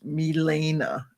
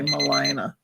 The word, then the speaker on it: Milena: It's Milena, and I always say Melina.